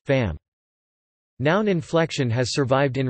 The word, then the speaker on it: femme: marked differently in spelling, e.g. femme, femmes, woman, women, both pronounced fam.